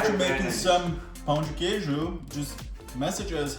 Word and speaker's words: Pão de Queijo: I forgot how to pronounce it already. Pão de Queijo.